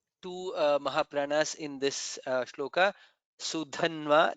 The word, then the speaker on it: सुधन्वा: Sudhanva, Dha is Mahaprana.